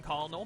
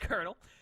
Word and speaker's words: colonel: as you can see I used to call him Connell but now I know that it's actually pronounced colonel he's been corrected yeah